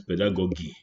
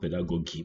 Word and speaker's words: pedagogy: Here some people pronounce pedagogy. Oh, my friend, it's not pedagogy, but pedagogy.